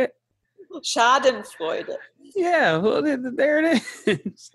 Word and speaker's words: Schadenfreude: Freudenacken or something like that. Schadenfreude. How do you say it? Schadenfreude.